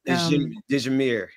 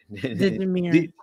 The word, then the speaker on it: Dijamir: And you give me this the pronunciation of the last name again, Rebecca. You had it before. Charlie. Oh, I forget. Dijamir. Dijamir.